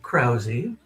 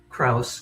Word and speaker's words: Krause: We pronounce it Krowy. Krowy. Okay. It's not completely anglicized. It's a little bit in between the original and Krauss, which many people say.